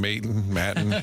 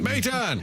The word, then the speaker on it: Maton: you think that's in honor of the Mayton signing? It could well have been a 12 and 25. Like if Joe got mad, we kept saying Maton. He's like, Mayton.